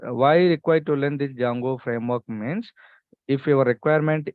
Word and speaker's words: Django: have jungo framework workk where D is silent that's why people are calling like Jango framework Jango or else you can also call as Django no problem got it